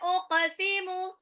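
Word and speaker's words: أقسم: Uqsimu, qafnya dipantulkan ya.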